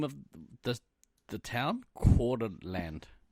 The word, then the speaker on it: Coeur d'Alene: Coeur d'Alene. Coeur d'Alene. Coeur d'Alene. Think like French pronunciation.